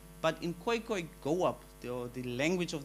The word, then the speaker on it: Khoekhoe: Here's the thing, when it comes to the colored identity, I'm not saying that all colored people are Khoekhoe and San.